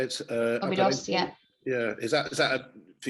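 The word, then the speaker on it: Óbidos: Obidos, yeah.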